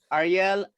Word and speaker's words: Ariel: you hear me yes the best way to pronounce my name is to remember the washing powder that's my name good afternoon everyone ariel um i